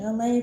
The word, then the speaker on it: Elay: It's me, LA, pronounced like LA, like the city I'm not from there, but I'm breezy.